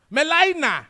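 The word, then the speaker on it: Gmelina: Melina. Nkakatekom. Edelugi G. It's supposed to be Gimelina. And you see G there. Inside. Why is that G when you are starting from what?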